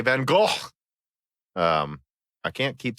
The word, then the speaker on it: Van Gogh: I thought it was Van Gogh, but no, apparently it's more like Van Gogh.